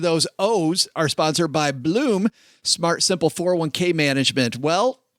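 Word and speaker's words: Blooom: Bloom with 3 O's is a simple, smart, and affordable way to grow it.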